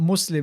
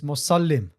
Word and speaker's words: Musallim: So it's not Muslim, it's Musallim.